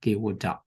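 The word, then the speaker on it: Kevaṭṭa: Other than T, they use the D. So Kewata, it should be pronounced. But in our Burmese version, it has the character of Ta. That's why it should be here. Kewata Sutta. Kewata Sutta. So this is just pronunciation different.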